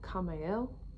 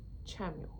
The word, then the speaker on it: Chamuel: Hello, I'm Nikki and I have a message today from Archangel Chamuel, who I instinctively want to call Kamel, but when I look it up, the English pronunciation is Chamuel.